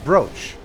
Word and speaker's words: brooch: Why would it be spelled brooch if it's pronounced broach? Like, it is clearly in English, in the English language, it's clearly double O is oo. Because of moo and cool and all the other double O words.